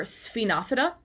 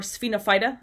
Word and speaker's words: Sphenophyta: Our last group of taxa of the seed-free vascular plants are members of this order Sphenophyta, or Sphenophyta. Again, I hear it pronounced both ways.